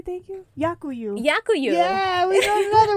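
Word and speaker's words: дякую: Yakuyu.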